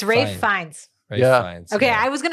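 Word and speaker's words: Fiennes: Ralph Fiens. That's how you say it. Okay. Yeah. I don't think that's how you say it. It's probably not. I don't I'm pretty sure that it's pronounced fine.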